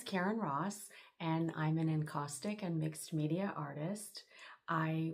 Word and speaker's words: encaustic: My name is Karen Ross and I'm an enostic and mixed media artist.